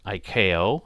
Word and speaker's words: ICAO: And there is a standards body, ICAO, or ICAO is usually a way it's pronounced, that have set these up.